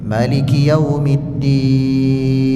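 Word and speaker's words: مالك يوم الدين: Cara yang pertama kita baca maanya itu panjang. Maliki yaumiddin. Cara yang kedua dibaca pendek. Maliki yaumiddin. Dua-duanya sah. Dua-duanya boleh.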